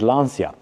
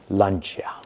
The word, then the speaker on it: Lancia: In English, if you are to read it as it is, you'll maybe pronounce it Lancia, which in the classic Italian circles is frowned upon. Therefore, Lancia.